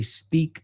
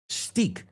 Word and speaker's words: steak: So then why does everybody say stik tartar? Well, first stik. There is no word in the English language that sounds like that. Stik. Get it out of your head. Steak doesn't maybe mystique. Right.